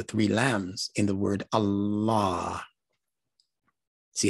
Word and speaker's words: Allah: lambs in the word allah see how it automatically makes it different than what the ancient arabs were saying they were saying allah with a double lamb allah allah revealed to